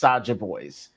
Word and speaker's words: Saja Boys: Soja Boys? Yes, it's like Soda Boys, but it's pronounced Saja Boys.